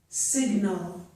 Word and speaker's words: sign: At the end of a word, if we have GN, the G is usually silent, as in the word sign and in the word align.